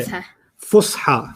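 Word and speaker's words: فصحى: Fusha. Fusha. Fusha. Fusha. Yeah, Fusha. Fusha. And then the old one is ancient Arabic. You don't have to know the terms yet, but Fusha is an important word to know.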